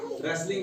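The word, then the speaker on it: wrestling: आर से पहले W silent rain है रच है आर से पहले डब्लू साइलेंट रेसलिंग है आर से पहले डब्लू साइलेंट इसी तरीके से रिंग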